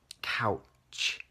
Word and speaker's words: couch: couch, and you have to put your tongue, couch.